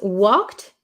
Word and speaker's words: walked: could you please pronounce walked it's it makes me difficult to pronounce it and it's difficult to pronounce right so this one in this word the L is silent we do not say the L okay and